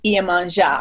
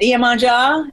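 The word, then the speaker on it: Iemanjá: How do you spell that? Iemanja with an accent on the A. Iemanja.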